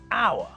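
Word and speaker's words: hour: rule suggests words like our because we don't pronounce the H so it's the same as if we started the word with a vowel we also say a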